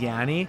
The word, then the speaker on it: Yanni: Yanni or Yanni. You know How what do I you mean? pronounce People it? fuck that up all the time. You know what? The original is just Yanni.